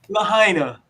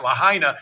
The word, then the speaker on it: Lahaina: Is it pronounced Lahaina or Lahaina? Lahaina. All right. Because we've been debating it. Lahaina.